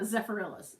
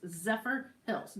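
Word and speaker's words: Zephyrhills: well lincoln california hills jerry says it's hill so it's zephyr hills it's not zafarillas zephyr hills got it now i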